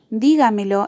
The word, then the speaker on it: dígamelo: Dígamelo es una palabra que tiene su acento en la sílaba antepenúltima, por lo que es una palabra sobre esdrújula. Y también lleva el tilde en esa sílaba, que es la sílaba tónica.